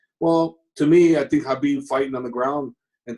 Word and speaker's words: Khabib: First of all, a lot of people pronounce Khabib's name Khabib. So if people could start pronouncing his name correctly, would be nice. Because I see in so many interviews and stuff like that, they keep calling Khabib Khabib. It's not a Mediterranean restaurant. The K is silent.